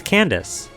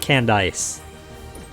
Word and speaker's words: Candice: with your toughness how do you pronounce this gym leader's name definitely emphasize the ice at the end it's candice it's not canned ice having you ever watched phineas and ferb their